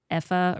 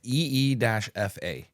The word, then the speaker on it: Aoife: And even on page 124, Effa or Effie, however you... Aoife says... pronounced EE-FA. There you go.